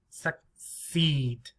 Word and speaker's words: succeed: are rules suck seed succeed succeed this one very quick uh it's very lazy succeed succeed so the most important the stress see seed yeah there's our stress succeed succeed now this